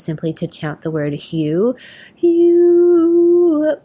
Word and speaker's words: HU: And one of my favorite ways to meditate is simply to chant the word hue. Hue. It's H-U, pronounced like the color hue or the name hue.